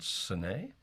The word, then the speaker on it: Sine: Is it Sine? Yes, it is. Okay, we pronounced that correctly. Hello. Hi, Sine.